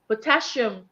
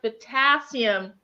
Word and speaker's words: potassium: reading and I said pottassium and then he he turned to me he like there's no h in potassium it's pronounced potassium I thought I was